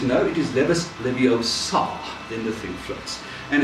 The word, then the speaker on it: Leviosa: it right and Hermione says no it is Leviosa in the think floors and it's simply maybe the pronunciation of the words and at the conclusions